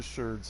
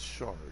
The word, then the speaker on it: sherd: It's shard. No, it's really not. For pottery, they're actually called sherds. If you're wondering, I think some people pronounce it shard, but I'm pretty sure it's supposed to be sherd.